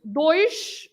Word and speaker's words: dois: Dois with sh at the end.